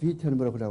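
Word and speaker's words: Wittenberg: 영어에는 위텐버그지만은 이 독일어 발음은 W가 V자처럼 발음하기 때문에 위텐버그라고 그러죠. 위텐버그.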